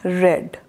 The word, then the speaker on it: read: changed in past tense we are supposed to pronounce read read and in past participle also it will remain same red read red red now i am going to